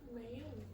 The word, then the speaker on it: Mayo: the next one then Mayo Mayo yeah like mayonnaise May Mayo goway R